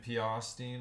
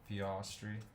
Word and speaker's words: Piastri: Oh, the Tim Piastine or whatever. I don't know how to say his name. Piastri. Oscar Piastri.